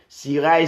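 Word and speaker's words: Cirail: Si vous n'avez pas fini, donc allez sur Siray, D-A-V-I-D, Siray, C-I-R-A-I-L, comme ça se prononce.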